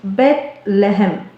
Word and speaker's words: Bethlehem: In Hebrew, the city's name is pronounced Bethlehem.